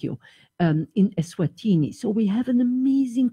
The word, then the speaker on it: Eswatini: Equatini? Eswatini.